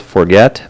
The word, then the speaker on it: Forget: We got a town that's spelt forget, but it's pronounced forge. French.